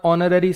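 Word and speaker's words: honorary: Honest ऑनर ऑनरेरी सब में H silent है।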